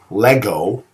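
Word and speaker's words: λέγω: Lego sounds like the word Lego, like the little bitty plastic building blocks.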